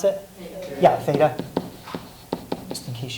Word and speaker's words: theta: Does anyone remember how you pronounce it? Theta.